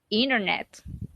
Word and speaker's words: internet: Internet with not T. Okay? If you notice in the audio, they don't say internet. They say internet. You are going to listen you are going to listen that pronunciation when Americans have a conversation, okay? They omit the T.